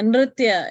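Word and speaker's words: नृत्य: Yeah, Nritya. It is a Nirtya, combination of three, N, R, and T, right? Ra, and Tha. So it's little bit difficult. So Nritya.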